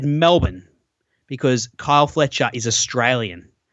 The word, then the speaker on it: Melbourne: It's Melbourne. Here, listen closely. Melbourne, not Melbourne. There's no barn in it. There's no barn. It's Melbourne. It's Mel's Buns. Melbourne.